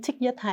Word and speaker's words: Thich Nhat Hanh: Je le prononce à la vietnamienne, hein, mais je crois qu'en français, on le prononce Thich.